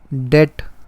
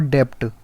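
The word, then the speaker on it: debt: Obligation, डेट, इट इज़ नॉट डेप्ट। अभी 11th में सीख जाओगे तो अच्छा रहेगा। ये होता है डेट, DEB साइलेंट होता है इसका, डेट होता है।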